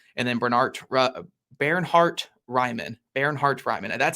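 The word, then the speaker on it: Bernhard Raimann: a brain injury and then Bernard barart Ryman Baron Hart Ryman that's how you say his name by the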